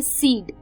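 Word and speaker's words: cede: को दोस्तों वो है सीड. सीड ये वो वाला सीड नहीं है जो बीज होता है, उसके स्पेलिंग भी अलग होते हैं. ये है सीड, C-E-D-E, सीड.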